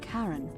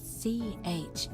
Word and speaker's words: Charon: pronunciation is a little off. The name you heard wasn't Karen. It was C-H-A-R-O-N, as in Charon, the ferryman of the dead.